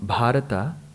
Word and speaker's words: Bharata: a different way so when we take such nouns with in the perspective of samskritam the last letter needs to be given its complete sound together is bharata but